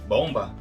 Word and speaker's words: bomb: Tradução: bomba. Pronúncia: bomb. No final, esse B não é pronunciado.